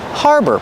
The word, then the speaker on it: harbor: Harbor, pronunciation. Use the R sound like far and car, har. And the second syllable is like burger. Together, harbor.